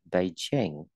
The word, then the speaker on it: Beijing: Beijing, trọng âm và âm thứ hai, Beijing.